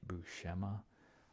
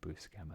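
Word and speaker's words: Buscema: here here's John bukem I always always pronounce it bua um there's the web comics podcast I think it's just I'm trying to remember what it's called it's just web comments weekly I believe and they always pronounce it his name boo schema so that's why I pronounce it that way now because I think they know what they're talking about I could be wrong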